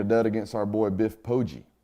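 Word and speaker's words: Poggi: this week later dead against our boy Biff poji not pogi by the way spoiler alert for this network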